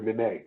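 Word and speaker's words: Nenê: I'm gonna say Capella and Nene, or Nene. Sorry, that was how he pronounces it.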